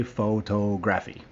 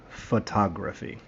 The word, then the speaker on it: photography: third word photography it's photography we don't have any more long o's do not say photography that's very bad don't say it say it one more time the correct way photography and the last one